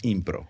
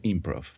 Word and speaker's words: impro: verdad Chávez me corrigió que es la impro no se dice improv porque si no es la impro la impro sí eh Bueno ron es